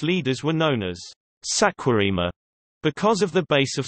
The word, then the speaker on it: Saquarema: Saquarema, Portuguese pronunciation, SCOM, is a municipality located in the Brazilian state of Rio de Janeiro.